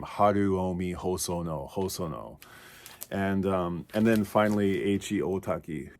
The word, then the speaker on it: Haruomi Hosono: I hear a lot of people kind of mispronounce his name, Haruomi Hosono.